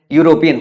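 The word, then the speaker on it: European: आएगा ठीक है ना जब यू साउंड आएगा तो यह कैसा साउंड हो जाएगा कंसोनेंट साउंड हो जाएगा ये कॉन्सोनेंट साउंड हो जाएगा तो हमें क्या इस्तेमाल करना होगा हमें आर्टिकल ए इस्तेमाल करना होगा जैसे अगर हम बात करें यूरोपियन हो गया तो हम यूरोपियन बोलते हैं यूरोपियन बोलते हैं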